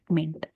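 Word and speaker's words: mayn't: Should not का shouldn't, would not का wouldn't, could not का कुडंट, और मे नॉट का MAYNT, मेंट, मेंट हो जाएगा, ठीक है, इसका प्रोनाउंसिएशन होगा मेंट।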